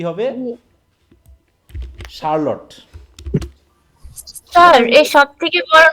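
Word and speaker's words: Charlotte: এই উচ্চারণটা বলতে পারবো কি কি হবে এটার, চার্লট। চার্লট, তাই তো, উচ্চারণ কথা চার্লটি, এরকমই তো নাকি, অনেক স্টুডেন্ট বলে থাকে আর কি এটা চার্লটি, এটা হবে কি, স্যার ই সাইলেন্ট আছে।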